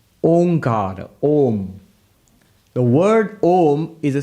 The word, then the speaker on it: Om: that's not correct because by the rules of sanskrit grammar when you bring a and u together it becomes o so om is the correct pronunciation pronounced together becomes om now what the upanishad